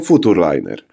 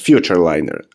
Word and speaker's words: Futurliner: pojazd którym jest gm Futur liner tak wiem że to się powinno czytać Future liner ale na potrzeby odcinka